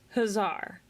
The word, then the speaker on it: hussar: So it's hussar.